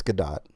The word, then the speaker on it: Gadot: Is it pronounced Gal Gadot or Gal Gadot? Like I thought. Gal Gadot. It's Gadot, for sure.